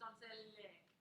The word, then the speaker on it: donzelle: In Italian, the second to last syllable is usually, I don't know if it's always the one that's emphasized, but it usually is.